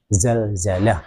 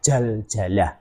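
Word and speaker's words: زلزلة: tumbuh gigi Sari bawaah Zalzalah bukan jaljalah nah kalau sudah jaljalah itu artinya sudah beda lagi itu begitu juga jim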